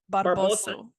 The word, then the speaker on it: Barbosu: I'm gonna mispronounce Barbosa. Barbosu.